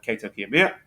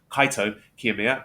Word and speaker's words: Kaito Kiyomiya: So since we last spoke, he's had wins over Kaito Kiyomiya. No, not Kaito, I've said it wrong. Kaito Kiyomiya and Ren Narita.